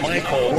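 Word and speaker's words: Mycole: That's Michael. It's spelled M-Y-C-O-L-E.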